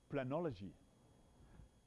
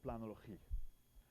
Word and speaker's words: planologie: That's the term planology. And if I pronounce that in a Dutch way, it's planologie.